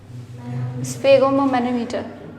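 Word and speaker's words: sphygmomanometer: ममनो मटर ठीक है इसका नाम सही से प्रोनाउंस कर लेना स्पेगो मैनोमीटर एस से शुरू है इस फगो ममनो मटर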